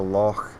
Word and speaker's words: loch: look down onto the loch. That's how you say it in Scotland, loch. You need the at the end.